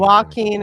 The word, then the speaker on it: Joaquin: Walking Walking Walking, excuse me. The J is silent.